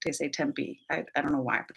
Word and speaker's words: Tempe: Like for example, in Arizona, there's a town called Tempe. It's not how that word should be pronounced. Like it's a Spanish word, I believe. I think it should be Tempe.